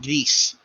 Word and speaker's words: Gris: up it's a spanish it's a spanish dev team so it's actually not gris it's pronounced geese god bless the vulva